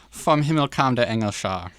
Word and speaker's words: Vom Himmel kam der Engel Schar: I'm going to He's not going to pronounce attempt it. Vom Himmel kam der Engel Schar. Very close. Vom Himmel kam der Engel Schar.